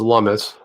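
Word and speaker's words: Lummis: out by the way jeff it's pronounced lummus which i was looming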